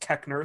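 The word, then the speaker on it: Koechner: google him david k-o-e-c-h-n-e-r i've heard it pronounced kekner so i'm sticking with that you would absolutely know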